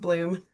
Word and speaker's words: Blomme: I'm not sure if it's I think Blom it's or Bloom. Bloom. It's Yeah. Bloom. Yeah. It's Yeah. Blomme, but it's pronounced Bloom.